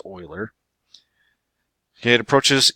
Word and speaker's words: Euler: and if you only it's his name is spelled like this oiler ok it approaches e